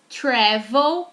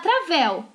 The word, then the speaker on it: travel: Não é pra falar travel, tá? Travel. Uma vez eu escutei isso de um aluno há muito tempo, eu fiquei... Gente, travel. Lembra que a letra A em inglês não tem som de A. Então não é travel, é travel.